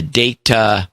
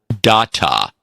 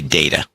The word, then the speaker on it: data: lord of data streams the data pronunciation like on star trek not data please okay uh so we have to say data yeah okay so we